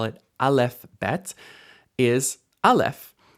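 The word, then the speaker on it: אלף: call it Alf is Alf Alf is uh a silent letter in standard pronunciation and so it doesn't make any sound at all but isn't it beautiful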